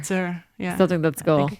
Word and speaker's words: Tsur: It's like saying No, but like it's spelled king. like TSUR. So, T-S-U-R. Yeah. Sir. Sir.